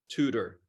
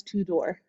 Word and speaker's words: Tudor: with now how do you say your last name tutor tutor I've honestly over the past week when I've been talking about you I've been calling you Tudor well when I was